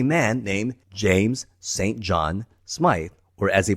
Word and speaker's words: Smythe: John Smythe, or as he pronounces it here, James St.